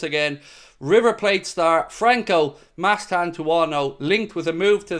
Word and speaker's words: Mastantuono: Now again, excuse my pronunciation there. It's Mastantuono. So Mastantuono.